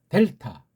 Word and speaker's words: 델타: 델타, 델타. 앞에다 힘을 주고 발음하면 조금 피곤이 덜하겠죠.